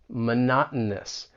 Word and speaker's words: monotonous: Words like mountain, kitten, monotonous. And really it it's just a glottle stop and it's almost like you're just swallowing the sound. That's the best way I I can describe that glottle stop.